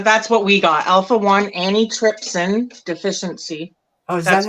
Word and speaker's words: antitrypsin: Alpha-1 antitrypsin deficiency. oh, is that That's how what you pronounce that?